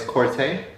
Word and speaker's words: Corta: from all right uh my name is corte that's c-o-r-t-a make sure you get it right and pronounce the right